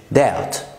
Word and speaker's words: doubt: البي برضه في الانجليش بتبقى silent لو وجاء بعدها تي وقبلها vowel، زي كلمة شك في الانجليش doubt، زي كلمة دين debt، فيش حاجة اسمها dipped، كمان كلمة saddle يعني طفيف.